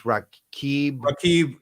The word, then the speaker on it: Rakib: It's Rakib. Rafiq.